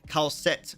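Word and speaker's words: Kal'tsit: have Kelsey makes sense uh uh khalset by the way uh not Kelsey only mentioned because you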